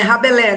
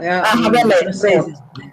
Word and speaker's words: Rabelais: Não, é Rabelais, né? Rabelais, francês.